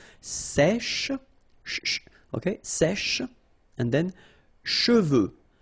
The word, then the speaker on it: cheveux: Usually this one is a bit of a problem because some of the students normally pronounce it chevaux, okay? So try to keep in mind that you get E-U here. So it goes like okay, and then final X not pronounced, sorry, final X, should pronounce it the French way. Final X is not pronounced.